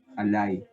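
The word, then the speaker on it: עָלַי: habido una excepción acá Y la lamet se ha acompañado con una patah, alay. Esa es su pronunciación, que significa sobre mí.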